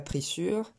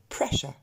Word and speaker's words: pressure: Et enfin, on ne dit pas pressure ou pression, n'existe pas, mais on va dire pressure. Et vous remarquez que ce U-R-E se prononce simplement E.